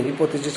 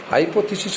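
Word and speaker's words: hypothesis: इसकी प्रोनाउंसिएशन शायद पहले मैंने हिपोथेसिस कर दिया था बेटा, हाइपोथेसिस होता है, आई एम सॉरी, हाइपोथेसिस।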